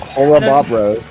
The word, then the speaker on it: Horrobobros: But that is going to be 3 down for Horrobobros. Indeed. Every time I say it or you say it, it feels like we're saying it wrong, but it's correct. Horrobobros.